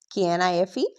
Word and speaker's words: knife: We say K N I F E knife. K N O W no K N E N. So remember if a word starts with K N ignore K completely.